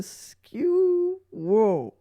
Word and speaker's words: Scewo: I've never used one, of course, but it is called the Skewo. So it's spelled SCEWO.